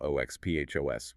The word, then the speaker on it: OXPHOS: Things like certain environmental toxins or mutations in mitochondrial DNA can directly poison the oxidative phosphorylation system, what we call OXPHOS, pronounced OxPhos. If you impair key components